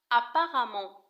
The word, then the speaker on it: apparemment: apparemment تكتب apparemment ولكن تنطق apparemment باللغة العربية يعني على ما يبدو أو على ما يظهر.